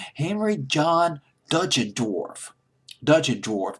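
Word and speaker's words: Deutschendorf: Henry John duton dwarf dut and dwarf there are several pronunciations of this word durchin dwarf is another pronunciation I think but I'll just use dut and dwarf and uh when John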